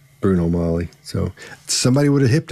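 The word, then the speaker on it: Bruno Magli: 10 and a half's he knows it's not pronounced bruno magley it's not pronounced and in the circles he ran in somebody would have said dude don't don't don't say magling it's it's bruno molly so somebody would have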